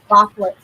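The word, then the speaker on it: баклажан: And that would be pronounced baclajan.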